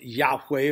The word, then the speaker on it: Yahweh: the God of Israel we pronounce it Yahweh or or Jehovah but in reality I